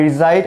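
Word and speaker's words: reside: না এটা রিসাইড অর্থাৎ এখানে এস এর উচ্চারণটা আমাদেরকে জ এর মত করতে হবে জো আই রিসাইড ইন অথবা ইন ঢাকা অথবা আই রিজাইড এট মিরপুর আমি মিরপুরে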